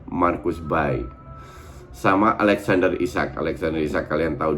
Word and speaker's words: Marcus Berg: Dalam bahasa Swedia itu kalau nggak salah pronounce-nya Marcus Berg.